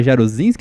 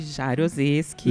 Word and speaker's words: Jaroseski: curso de Ciências Contábeis da UX, a Jarozinski, acertei a pronúncia? Jarozeski.